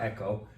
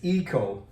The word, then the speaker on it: eco: Those terms, like, and in Korean, usually Koreans say echo, but it's not echo. This is echo. Echo is hello, hello, hello, but it's not. The pronunciation is eco, as in ecology.